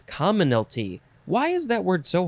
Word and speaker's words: commonalty: in another episode commonalty it's not commonality right it's commonality where is it there it is common it's commonalty why is that word